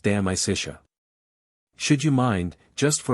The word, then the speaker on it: De Amicitia: We've finished Livy and De Senectute and are now engaged with De Amicitia, pronounced De Amicitia.